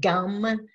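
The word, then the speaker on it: gam: So if you pray to Ganesha, you say his seed sound gum, G-U-M, or sometimes it's spelled G-A-M.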